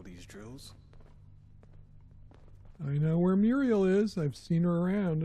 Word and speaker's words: Muirgheal: Oh, that's how you pronounce her name, Muriel.